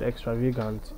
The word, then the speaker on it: extravagant: but for most adjectives especially adjectives with four syllables like extravagance you have the stress pattern in the second syllable so that is depicted